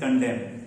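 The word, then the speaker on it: condemn: इसको सी ओ एन डी ई एम एन एन भी होता है लेकिन एन साइलेंट हो जाता है. That is कंडेम.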